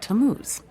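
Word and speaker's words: Tammuz: what t a m m u z it's pronounced tamuz maybe if you show him your evidence he'll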